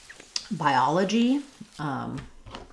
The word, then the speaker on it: biology: So in biology, this is a good example of how we do vowel-to-vowel linking within words. Because we're stressing on the ah syllable and we're moving from a front I diphthong, by, ah, la, g. I would write that as by, ah, la, g. But as I move from the I to the ah, by ya, you can hear a little ya sound is naturally coming in there and connecting those two.